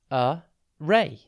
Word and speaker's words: array: TV today's word is array it's pronounced a ray and it's spelled a r r a y think a and then Ray spelled with two RS an array is an